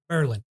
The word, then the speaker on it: Berlin: I got caught in Berlin, Georgia. You ever heard of Berlin? No. It is spelled Berlin. Berlin, but pronounced Berlin.